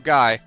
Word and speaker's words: Guy: I'm Guy, pronounced like the King of Braves name.